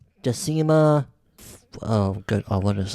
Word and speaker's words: Decima: Then Latin is like Spanish where there's no silent letters. You say everything okay. that's there. Then Decima, D-E-C-I. Say it again. D-E. Yeah, D-E. C-I-M-A.